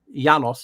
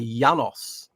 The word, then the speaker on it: Yaldabaoth: in Europe, he he's You pronounce Yaldabaoth instead of a J with a Y, Yaldabaoth.